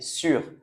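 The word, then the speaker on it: sûr: Et avec un accent, on prononce pareil, sur. Je vous ai dit, ça ne change pas la prononciation.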